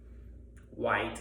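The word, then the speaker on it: Wight: I see it's the Ireland and uh Holyhead and uh White Island. It's spelled w h i g h t. It's like the Barrow Whites, you know, the spooks.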